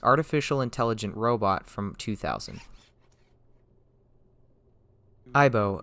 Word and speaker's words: Aibo: Aibo, a phrase which sounds alike to the Japanese pronunciation of partner or pal, was what Sony decided to call their newest advancement in robotics.